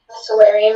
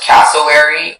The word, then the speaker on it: cassowary: Cassowary, may I have all of the information? Yes, so the word can be pronounced cassowary or cassowary, not much of a difference.